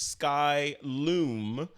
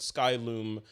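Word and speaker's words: Skylum: Kevin LaRue has corrected me on how to pronounce the name of his company its sky loom like loom LOM but the domain is sky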